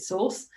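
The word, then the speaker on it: SORSE: online series of events called Source or I pronounce it Source um as in the source of all RSC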